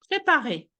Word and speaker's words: prépare: Kylie, pour la prononciation, le R Prépare. Prépare-toi. Prépare. Oui. Prépare. Prépare-toi. Meaning the very last sound, well, the very last thing we should hear, it's the vibration in your throat.